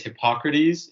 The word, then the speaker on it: Hippocrates: about it it's the way my teacher would pronounce it is hippocrates and galen but like how would you know